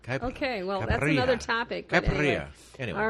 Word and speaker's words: caipirinha: No, I can't pronounce it. It says Caipirinha. Okay, well, that's another topic. Caipirinha.